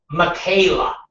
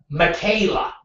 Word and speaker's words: Michaela: And again, why the uh CNN executives Katie goes her name is pronounced like Michaela. So, uh, her name is like, uh, Michaela.